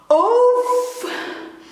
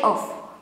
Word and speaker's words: of: It should be oof, oof, oof. Okay, but in daily conversation I say off. Yeah, off. But Dutch people will say it as oof, oof, oof.